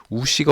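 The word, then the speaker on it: 吳: 우씨가 어디 있느냐? 그렇죠? 이거는 한국의 12위에 속하는 성씨죠. 오씨입니다. 오씨. 오씨를 중국어로 우, 이성으로 높여 읽습니다.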